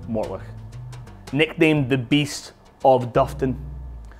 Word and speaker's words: Mortlach: And in front of me is probably, and is, well, is my most favorite brand, and it's pronounced Mortlach.